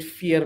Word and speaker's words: FYR: a Norwegian company. So the way they pronounce it is different. But we've landed up with fear because, yeah, the way they pronounce it is a bit tricky.